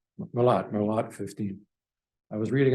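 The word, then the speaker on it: Melotte 15: center I think is called Merlot 15 it's pronounced merot merot Merlot 15 I was reading up on that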